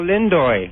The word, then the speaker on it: Lindo: hard to screw up ass no the Delroy Lindy guy you said yes what is the correct pronunciation it's Delroy come on come on hurry up Delo Del Lindo and I I did I think that I